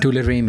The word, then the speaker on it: tularemia: How do you pronounce it? Tularemia? Tularemia.